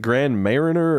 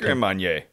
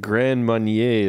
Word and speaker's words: Grand Marnier: some of the Grand, is it Grand Mariner or Grand Marinier? Or it's like Grand Marnier. Marnier. I think so. Okay. That's how I always heard it said. Gotcha. That's how the French monks pronounce it.